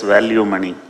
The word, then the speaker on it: Velumani: I told there are eight letters in my name. Segregate first four and next four. Now you read it. See Reddit does value money.